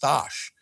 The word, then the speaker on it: Stash: explained to me that it's actually pronounced stosh which means stanley in polish is stosh i know